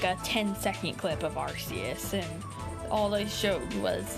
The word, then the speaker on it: Arceus: They just confirmed that it's Arceus, so everybody has to pronounce it like that from now on.